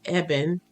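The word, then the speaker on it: אבן: is a force that strengthens okay um e-b-e-n evan uh means rock or stone okay and it is spelled aleph bet none aleph meaning the father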